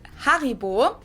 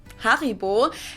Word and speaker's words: Haribo: Haribo. Maybe not everyone knew that Haribo is actually German. We pronounce it Haribo. Haribo.